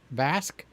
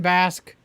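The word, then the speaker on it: Vasc: new guy named Dan v-a-s-c how would you pronounce that Dan bask okay so when it said Dan bask heavy metal singer sings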